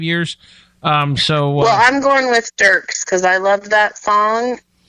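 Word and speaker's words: Dierks: How do you say his name? Dirks? Yep. So don't really pay attention to the E then.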